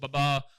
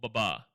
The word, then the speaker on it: Babar: I want to ask you is it pronounced Baba or Baba? Like Baba or Babar?